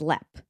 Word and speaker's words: Leap: jump to jump in Ireland is pronounced as lep but it's spelled as leap.